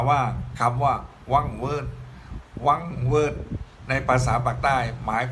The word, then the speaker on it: หวังเหวิด: ว่า Word รวม กัน ก็ จะ รู้ ว่า หวังเหวิด หวังเหวิด หรือ ชาว ปักษ์ ใต้ เจ้า เสียง เป็น พี่